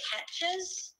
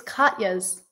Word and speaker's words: Katjes: Katjes? No. It's Katjes. How do you say that? It's Katya's. Katya's?